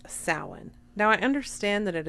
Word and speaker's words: Samhain: She doesn't say Samhain, you guys. Guess what she says? Sam Heughan. Sam Heughan is the actor who plays Jamie Fraser on Outlander. And somehow, Samhain is Sam Heughan to her.